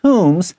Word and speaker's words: tomb: shapti。Ushaptis were placed inside tombs。好，他们这个乌沙布提俑呢，他们会被放在这个坟墓里面 with the deceased。好，会跟这个死者 and their belongings。belongings 就是他们这些遗物放在旁边，这些类似像陪葬品一样一起放在里头。 So tomb also sounds like the word room, R-O-O-M, because that's what a tomb is.